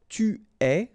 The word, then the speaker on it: es: Okay, so je suis, final S not pronounced, tu es, okay, so it's quite strange because you get this ES, but then phonetically it's est, alright, quite open, tu es.